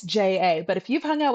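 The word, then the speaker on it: ཇ: We have ja, ja, ja, absolutely no flutter whatsoever.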